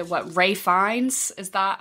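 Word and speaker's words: Ralph Fiennes: always I used to call him like Ralph Phineas and then I think it was who were like you dumb that is not but obviously that's just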